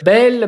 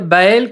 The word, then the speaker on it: Baël: Alors déjà peut-être une précision, on dit Bel, Baël, comment est-ce qu'on prononce ton nom de famille? Normalement il y a un tréma sur le premier E et donc du coup c'est plutôt Baël.